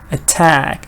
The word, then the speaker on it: attack: Stress is always after shua or before shua. Now here we have no before shua, so it has to be after shua. Afraid. Attack. It's just 2 syllable.